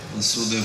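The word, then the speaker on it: Vāsudeva: Васудев это отец. And son is Vasudeva. А сын ударение на первом слоге Васудев.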